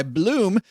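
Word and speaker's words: Blooom: Bloom with 3 O's is a simple, smart, and affordable way to grow it.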